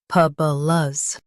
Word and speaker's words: hyperbolas: Lus, hyperbolas, hy, p, b, lus, hyperbolas. Stress per and keep lus light.